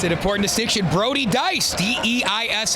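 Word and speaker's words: Deiss: Brody Dice, Deis S, pronounced Dice, had a goal earlier and had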